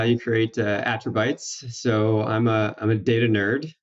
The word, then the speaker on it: Attribytes: What was and is Attribytes, which is spelled BYTES, like attributes with the fun word at the end here.